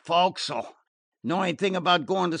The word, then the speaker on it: forecastle: In the forecastle, the place where the sailors live," he explained, flushing and feeling doubtful of his pronunciation. "Oh, the fo'c'sle.